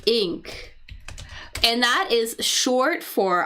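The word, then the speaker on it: Inc.: be c inc and we pronounce that as ink and that is short for inc C is short for incorporated.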